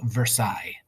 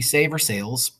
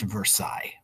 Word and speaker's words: Versailles: mean but it's pronounced Versailles because it's French so in French they always have lots of extra letters at the end um that you don't have to pronounce Versailles anyway and the point